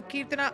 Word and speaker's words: Kirtana: The Keertana I know, this time I pronounced it Yes.